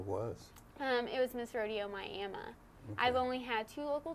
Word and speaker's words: Miami: it was Miss Rodeo Miami I've only had two local titles leading me up to Miss Rodeo Oklahoma and I'm very thankful for both of them folks in Oklahoma it's not Miami it's Miami yes I got that